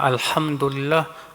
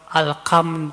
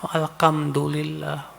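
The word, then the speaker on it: الحمد لله: Ada lagi yang harusnya alhamdulillah. Alkam pakai kaf alhamdulillah.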